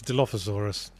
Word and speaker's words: Dilophosaurus: It's Dilophosaurus. Oh, I said it wrong.